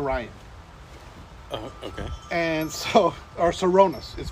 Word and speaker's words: Sirona Ryan: name is sirona Ryan okay and so our sironas is pronounced sirona so people are like people are